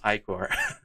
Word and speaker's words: ichor: Pronounce. Ichor. Thank you, Google. Yes, Ichor.